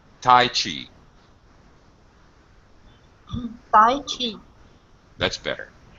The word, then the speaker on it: Tai Chi: This is also going to get this compound stress pattern, Tai Chi. So you had it a little bit, Oksana, but you could widen your pitch range. So a higher high and a lower low.